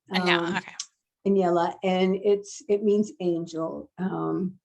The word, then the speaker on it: Aniela: the chat, and it's, pardon me if I pronounce this wrong. The character Nula plays a central role in the novel. Does she remind you of anyone you know, or is she completely fictional? It's Aniela.